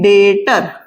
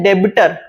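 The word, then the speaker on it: debtor: है वो मेरे कहलाएंगे डेटर बी साइलेंट होता है जो नए स्टूडेंट्स होते हैं वो बोलते डेबिटर डेबिटर नहीं होता है डेटर बी साइलेंट होगा तो मोहन मेरे हैं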